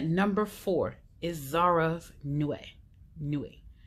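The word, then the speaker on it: Nuit: Nue. You don't pronounce the T. I heard somebody say it, and it's Nue.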